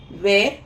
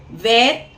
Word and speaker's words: were: வேர் யூ, WERE அதை வந்து வ அப்படின்னு ப்ரொனவுன்ஸ் பண்ணணும். திருப்பியும் உச்சரிச்சுக்கோங்க. WERE அதை வந்து வ அப்படின்னு ப்ரொனவுன்ஸ் பண்ணணும். வேர் அப்படின்னு ப்ரொனவுன்ஸ் பண்ண கூடாது.